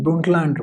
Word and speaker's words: Brundtland: You'll be like Brundtland, ये इसका actually pronunciation is Brundtland report.